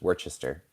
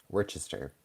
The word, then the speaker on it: Worcester: Worcester. It looks like it's Worcestershire, but it's Worcester. Worcester.